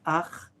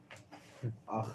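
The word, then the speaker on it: אך: Vayomer lo Lavan, ach atzmi uvesari ata, vayeshev imo chodesh yamin.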